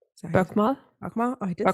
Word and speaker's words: Bokmål: One is called Bokmål. Bokmål?